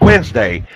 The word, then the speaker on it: Wednesday: Sound out like, just say the word Wednesday. There is no D in Wednesday, you guys, but it's there. I mean, try to pronounce Wednesday the way it's spelled.